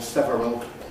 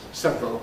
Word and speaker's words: several: Uh some dictionaries that give it with the full several as the basic form. I don't. I think it ought to be given as several because that's how it's really always pronounced.